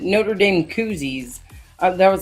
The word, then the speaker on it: Notre Dame: It's not a noter. It's actually a Notre Dame. If you really want to say it right.